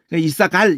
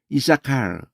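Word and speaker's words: Issachar: 샤카르 이 알 발음은 받침이 될 수가 없는 스페링이에요. 엘 발음만 받침이 될 수 있지 알 발음은 절대 받침이 될 수가 없어요. 샤카르 해가지고 이사갈 이러면 안 돼요. 이사칼 이렇게 따로 알 발음을 해야 돼요.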